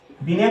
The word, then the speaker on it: Binet: बीने को इंग्लिश में लिखते हैं ऐसे, ठीक है, आप लोग कंफ्यूज मत कीजिएगा, इसमें टी साइलेंट रहता है, BINET, इसको पढ़ेंगे बीने। ठीक है, टी साइलेंट है इसमें, क्या है?